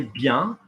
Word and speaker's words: bien: IEN is yan. Okay. You see that in verbs, I-E-N. Well, I'm coming to that in a second. That's another one about N irregulars. I'll do it quickly while I'm there. So, très bien. Yeah, je viens. S on it because it's an S. Yeah, so the yan will be yan, like yampy or yeah, like a dog, yeah, viens.